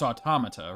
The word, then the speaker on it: automata: I mean there's a there's a correct English pronunciation right it's it's it's automata right automata okay good that's how I usually say it